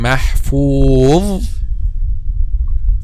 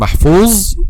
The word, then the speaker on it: محفوظ: As we said, the common mistake when pronounced letter dha is to make the tip of the tongue turns back and then pronouncing letter zay instead of letter dha.